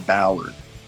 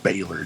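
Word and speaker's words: Bálor: ring out comes finn balor yes that's finn ballard people that say baylor just what the pronounce the damn name right anyways out he comes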